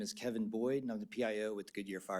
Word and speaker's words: Kevin Boyd: My name is Kevin Boyd, and I'm the PIO with the Goodyear Fire Department. That's spelled Kevinboyd.